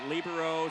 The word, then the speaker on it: libero: term is correct, but it does come from the Italian word meaning free, which the Italians pronounce it libero. So we've kind of Americanized it to pronounce it libero, so you'll hear it either way. In both ways, they've said are correct, but I also do prefer the pronunciation libero.